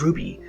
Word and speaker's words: RWBY: The title, RWBY, pronounced as RWBY, is a double acronym.